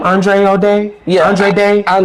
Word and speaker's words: Andra Day: Andre O'Day? Yeah, Andre Day. Andra Day.